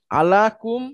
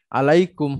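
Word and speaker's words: عليكم: আলাকুম মাঝখানে ইয়াটাকে তখন হচ্ছে আপনার অ্যাক্টিভ করে দেওয়া হয় উচ্চারণের সুবিধার্থে। হ্যাঁ, আলাইকুম হয়ে যায় তখন। এটা আলা প্লাস আনতুম ছিল। আলাটা যেহেতু জার বা উচ্চারণ সুবিধা। প্রিপোজিশন, পরের শব্দকে মাজরুর করে। আনতুমের মাজরুর হচ্ছে কুম। আলাকুম সেটা হয়ে যায় আলাইকুম।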